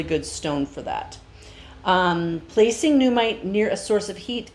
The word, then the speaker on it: Nuummite: Again, this is called Numite, and Numite is spelled Nuummite.